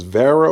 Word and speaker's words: Wera: if this pronounced is Vera or WEA I do know that in some countries they pronounce it w as a v but anyway we just say WEA this uh six piece